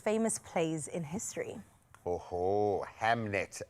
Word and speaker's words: Hamnet: Oh, Hamnet. Yes, you are saying it right.